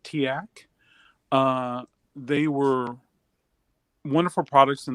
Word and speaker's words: TEAC: So TEAC, we pronounce it TIAC.